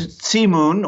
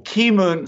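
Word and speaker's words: Keemun: favorite teas it's called sea moon or ki moon sometimes it's pronounced it's a Chinese tea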